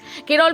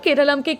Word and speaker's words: কেরলম: কেরল বিশ্ববিদ্যালয়ের ইতিহাসের অধ্যাপক সাজি এর মতে ব্রিটিশরা নামের শেষে ম বা ন উচ্চারণ করতে অসুবিধের মুখে পড়ত, তাই তারা নিজেদের সুবিধা মতন কেরালামকে কেরাল করে দিয়েছিল।